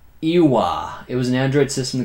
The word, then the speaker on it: Ouya: It's pronounced Ewa.